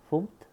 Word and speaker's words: fmt: You're using a function in the FMT, usually pronounced as funct.